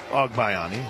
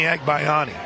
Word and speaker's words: Agbayani: Major League Baseball Benny Ogbayani? It's the first pitch as well. I did, but I also, in my time always thought it was Benny Agbayani. The pronunciation guide for BYU has it as AWG.